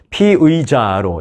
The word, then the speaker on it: 피의자: 아울러 특수 특별 수사본부는 피의자로 이제 이걸 발음을 잘해야 돼요 얼핏들으면 피해자로 들리는데요 피해자가 아니라 피의자 피의자는 그냥 쉽게 생각하면